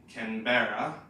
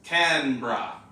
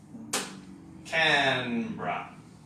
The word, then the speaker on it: Canberra: called Canberra so again if you look at this and try to read it phonetically you might be tempted to say Canberra but it's just two syllables Canberra can bra and this is where